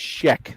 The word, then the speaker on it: Shek: He's painting SHEK. It's like Shrek without the R. So I'm sure he loves to hear that. He just paints, and just paints. Yeah, Alex Sheck.